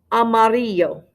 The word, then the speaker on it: amarillo: the word for yellow amarillo amarillo now those two ls make a y sound yes it looks like